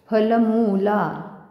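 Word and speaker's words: फलमूलाशिनौ: श्लोक वाचायला सुरुवात करू फलमला मुला दीर्घ हे आहे दीर्घ उच्चारण आहे फलमला शी रसवाय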